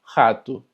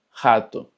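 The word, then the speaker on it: rato: Cuando se encuentra al inicio de una palabra, se escucha como una J de nosotros. Por ejemplo, ratón en portugués se dice jato, jato.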